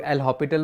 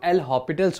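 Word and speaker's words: L'Hôpital: Right, now इस नाम के बहुत सारे प्रोनाउंसिएशन है, राइट. कुछ लोग L'Hopital बोलते हैं जो मेरे जैसे है, कुछ लोग L'Hopitals बोलते हैं, राइट, हॉस्पिटल्स बोलते हैं, राइट.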